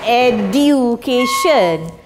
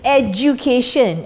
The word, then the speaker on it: education: Actually, the pronunciation is not education. It's as if you have got this word dzj. It's education.